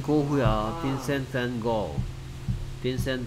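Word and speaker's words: Van Gogh: 빈센트 밴 고. 빈센트 밴 고. 우리는 뭐 고흐 하는데 실제 발음은 고로 들립니다.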